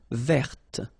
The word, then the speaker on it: verte: Feminine form, verte. So listen carefully. I don't say te, but it's t.